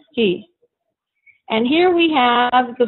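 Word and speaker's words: היא: which is pronounced who and she which is pronounced he and here we have the verb sa Yin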